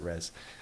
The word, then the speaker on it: Rez: That's how I said to pronounce it, Rez.